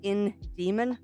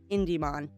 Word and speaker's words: Indemon: shouldn't not because it should be pronounced in Demon not IND demon I chuckled that indon